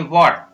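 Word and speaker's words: what: WH, यहाँ पर H silent रहेगा तो इसको हम पढ़ेंगे वॉट, वॉट।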